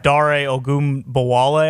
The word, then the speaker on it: Dare Ogunbowale: But you guys have Dare Ogunbowale, I believe is how you pronounce his name.